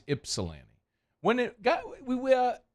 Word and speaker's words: Ypsilanti: think it's Ypsilanti okay so we don't pronounce the Y the Y is silent I don't think look it up but I don't I think it's ipsilanti when it got we